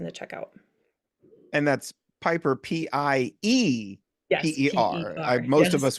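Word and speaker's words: Peper: And that's Piper, Yes, P-E-P-E-R. P-E-R. Most of Yes, us would all Piper. spell it P-I-P-E-R, but there's an It's E.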